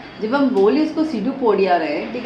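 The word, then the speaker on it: pseudopodia: सीडोपोडिया। P silent होता है।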